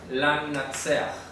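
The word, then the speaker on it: לַמְנַצֵּחַ: Ah, la pronunciación. Lamnatseach.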